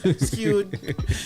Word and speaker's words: Skweird: Because they see the spelling, not sure how to pronounce it. So it would be like Skweird. Right. Skewed.